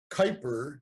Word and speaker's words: Kuiper: Kyper and it rhymes with sniper but it's spelled